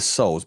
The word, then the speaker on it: Seoul: And it's the souls, bro. Is that how you say it? The souls? The seal? Yeah, soul. So it's basically Seoul, Korea. It's Korean.